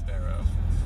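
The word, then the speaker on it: Spearow: It's spelt Spiro. Right, it's pronounced Sparrow.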